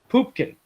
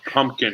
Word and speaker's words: Pupkin: No, Pupkin. Pupkin? Pupkin. Pumpkin. Pumpkin. He has to sit. We're just doing right there. He has to tell everybody in the movie how to pronounce his freaking last name.